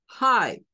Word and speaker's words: Hi: vemos ahí en minúscula con el sonido de la H que en el inglés la H tiene sonido es como Hi y luego tenemos la